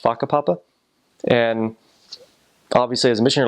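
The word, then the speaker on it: whakapapa: words that um like the word genealogy is pronounced faka Papa and obviously as a mission like did you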